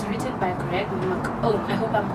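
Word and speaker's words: McKeown: It's written by Greg McCone. I hope I'm pronouncing it right.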